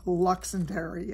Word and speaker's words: Luxendary: be wrong it's called luxander and the reason I pronounce it that way is they said it was a combination of luxury and legendary so that's how they